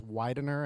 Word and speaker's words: Widener: Widener University I was I keep being schooled that it's Widener and not another pronunciation uh again we've been